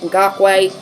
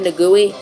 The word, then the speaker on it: Ngakoue: sacked probably by Yannick Ngakoue. I think that's actually how you say it. I've always said Ngakwe. Probably Ngakoue.